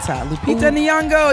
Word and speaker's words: Lupita Nyong'o: Lupita Nyong'o. You got to say her name like that.